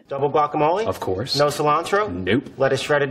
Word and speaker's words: cilantro: i learned uh italian i was like chilandro you're like what cilantro are you serious cilantro okay anyways lettuce this is the way you pronounce this word double guacamole of course no cilantro nope lettuce shredded not